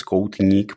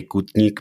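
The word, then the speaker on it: Koutník: hnik sorry I mean the original name is kotnik but that's the Czech pronunciation so I always say kutnik because that's how non checks read that okay I checked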